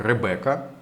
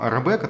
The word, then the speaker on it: Ревекка: изображена у нас девушка её зовут ревеко в некоторых вариантах пишут как Ребекка вот такое скорее высказал вариант англоязычного произношения знаете как звучит как-то так вот древняя древняя израильскому как-то по ветхозаветному рабека такого что современная Западная